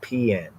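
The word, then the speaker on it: paean: They actually say it's pronounced as PN.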